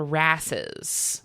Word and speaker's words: wrasse: That's spelled with a silent W, by the way. Like W r a ss.